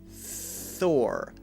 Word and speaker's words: Thor: your teeth and again there's no voice under the th so we don't say Thor but its Thor Thor Thor and you need to make sure the our sound is the last sound and is very clear her her if it's